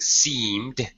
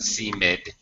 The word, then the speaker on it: seed: let me mention that be careful pronouncing seed it's one right one syllable not seid SE uh okay and also